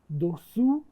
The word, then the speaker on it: dessous: dessous، dessus، dessous، dessus. این که اوه مثل اون سو یعنی زیر، اون که اوه مثل سور یعنی رو.